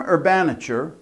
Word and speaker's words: urbanature: The term urbanature rhymes with furniture, suggests that all human